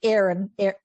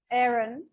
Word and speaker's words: Aaron: Yeah, he calls himself Aaron. Aaron. Robert who? He calls himself Aaron. Americans, it's like double A, and he still says Aaron instead of Aaron.